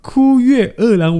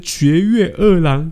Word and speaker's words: 堀越二郎: 的名字，人家是枯月二郎，我念成绝月二郎，ごめんなさい。